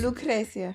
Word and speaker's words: Lucrecia: I said, oh, they pronounced her name wrong. I said, well, no, that's the actual way of how it's pronounced. Lucrecia.